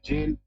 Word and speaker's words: gaol: Spelling है GAOL, बोला जा रहा है जेल।